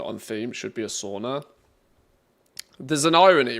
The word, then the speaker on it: sauna: understand like sauna lifestyle, maybe I should say it right for starters, sauna.